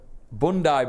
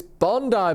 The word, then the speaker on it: Bondi: the ass welcome everyone welcome to bundai bowls it's obviously not pronounced like that because it's Bondi balls isn't it Bondi balls would you